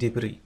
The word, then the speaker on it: debris: يعني جسده partially buried in debris. مدفونا جزئيا في الحطام. Debris هي الحطام. لا تنطق S. Debris. لا تنطق في النهاية.